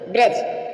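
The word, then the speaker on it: bridge: आप समझ रहे हो यहां पर डी फिर साइलेंट है अब और देखेंगे ब्रज ब्रज मीस होता है पुल नॉलेज मीस ज्ञान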